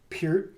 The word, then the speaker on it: Peart: And especially Neil Peart.